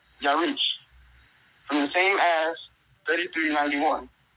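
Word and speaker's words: ירח: Pronunciation, Yarich.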